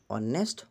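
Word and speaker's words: honest: হাইয়া দিবা গটিকে এন how over আরো এন অনেস্ট কারেক্ট আনসার হবো তার পিছটু হল সংক্ষিপ্ত আখরের প্রথম আগর প্রথম আখরটু উচ্চারণ কনসোনেন্ট হলে এ প্রিপজিশন বহে যদি উচ্চারণ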